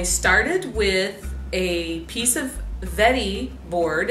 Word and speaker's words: Wedi: as hell I started with a piece of Vettii board it's spelled wedi but it's pronounced effete II it's